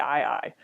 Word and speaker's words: aye-aye: So if you're interested in that, go Google something like the ii. It's spelled AYE-AYE.